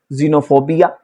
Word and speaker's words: xenophobia: Rule number 10 हमसे कहता है कि कोई भी लफ्ज है अगर एक्स से शुरू हुआ है तो आपने एक्स को प्रोनाउंस करना है जी के साथ। Example xylem, xenophobia, xylophone.